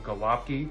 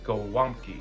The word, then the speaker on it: Gołąbki: I totally butchered it the first time. I was like, "Can I get some galopy?" But it's gamki.